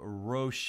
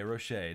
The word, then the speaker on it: Roche: Nessa is saying Roche. Okay, Roche. That's how it's pronounced.